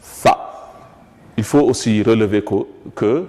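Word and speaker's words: ث: nous avions dit que pour le prononcer, il faut mettre la langue entre les dents et faire comme si on devrait dire en français ça. Comme ça, on va dire Tha.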